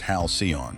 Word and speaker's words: Halcyon: Guests would board what looked like a real starship called the Halcyon, pronounced Hal-see-on.